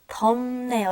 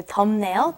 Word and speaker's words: 덥네요: And be careful, it does have the B up underneath it, but when you pronounce it, it's 덥네요. It's almost like an M, okay? So 덥네요, 덥네요.